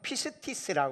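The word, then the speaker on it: πίστις: 믿음은 헬라어로 피스티스라고 그래요. 영어로는 뭐라고 그러죠? 페이스라고 그러죠. 페이스. 네, 발음이 좀 강해서 용서하세요.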